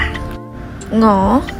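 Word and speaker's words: 我: ใช้ ได้ ปกติ ค่ะ หงอ หงอ ฉัน บาง คน จะ ออก เสียง ว่า อ๋อ อ๋อ ใช้ ได้ ทั้ง 2 แบบ นะ คะ พวก เขา พวก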